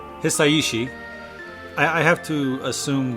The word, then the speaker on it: Hisaishi: name right me neither it's not just hasashi it's like hii yeah because Japanese just pronounced differently so uh hisaishi I I have to